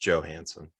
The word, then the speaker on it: Johansson: and several other stars you do this every time you say her name it's just joe hansen yeah whatever whatever she's